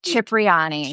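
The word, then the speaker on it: Cipriani: How do you pronounce it? Yeah. Chipriyani. Chipriani.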